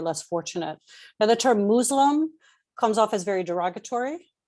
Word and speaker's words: Muslim: is good um so the term is muslim it's a soft s because in arabic muslim the word muslim comes from islam which means to submit and it's a submission